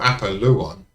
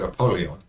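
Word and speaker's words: Apollyon: name apalon abidon or apalon often mistakenly just called apolon but if you look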